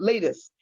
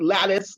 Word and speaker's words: lattice: was a lattice at latest um i always say that wrong so if i'm not saying it right l-a-t-t-i-c-e i always say it wrong so that is at lattice latest i'm going to say lattice for the moment so lettuce and so